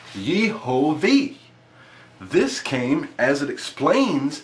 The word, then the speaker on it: Yehovah: However, you will see the dots around the letter, and you get the pronunciation of Yehovah as it appears here.